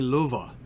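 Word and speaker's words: Lufa: uh luffa what's up it would be luva because uh it's a one f so you know that right like in anglo-saxon a single f is pronounced as v and a double f is pronounced as f so luva technically hi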